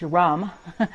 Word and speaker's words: Ram: The mantra for the solar plexus is the word Ram, which is pronounced rum, and it's R-A-M.